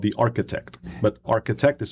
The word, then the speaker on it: Arqitect: This one's called The Arqitect, but Arqitect is spelled with a QI instead of a CH. So it's it's a play on the Qi, which underlines ARQITECT.